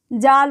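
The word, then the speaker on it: ذال: ये जाल है, जाल पे एक नुक्ता होता है, इसका हिंदी उच्चारण ज होता है, ज, जाल बोलते हैं, जाल।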